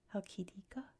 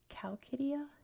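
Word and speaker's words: Chalkidiki: I believe in Greek it's, oh gosh, I have to remember how to say it, Halkidika. But in English it's Chalkidia, I believe.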